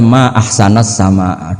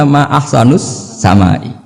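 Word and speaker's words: ما أحسنَ السماءَ: Mestinya bacanya ma ahsanas sama, duhai begitu indah, tapi dia bacanya ma ahsanus samai.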